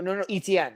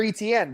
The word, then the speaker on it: Etienne: No, ETN. Like I know, but ETN. Remember he's yeah. But they say that you're supposed to pronounce their name Etienne.